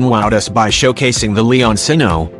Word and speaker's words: Leoncino: us by showcasing the Leone sino pronounced Leon Gino meaning the lion cub Street in Alianza no